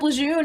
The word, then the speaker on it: Lejeune: was the camp called oh camp lejeune um l-e-j-e-u-n-e i think how does this camp lejeune hang